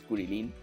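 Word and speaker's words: Krillin: O Krilin, es Kurilin.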